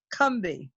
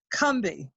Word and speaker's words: Combahee: it correctly which is cumbi as if it only has two syllables cumbi so all these mirrors